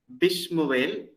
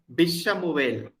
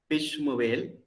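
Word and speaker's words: בִּשְׁמוּאֵל: Bishmuel, Lishmuel, Kishmuel. Look at the Shua here. It is not Bishamuel because B is very short. So we don't pronounce the Shua. Bishmuel, Lishmuel, Kishmuel.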